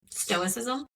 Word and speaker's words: stoicism: Stoicism. Stoicism. Stoicism. I just got to think of it as an S and not a C because I want to say stoicism and the middle way.